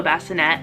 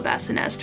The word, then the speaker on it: Bassinest: I thought it was just the Halo Bassinet until we got one, and then I looked in it and it says the Halo Bassinest right on it, and I was like, oh. So I've been saying it wrong this whole time, like, okay.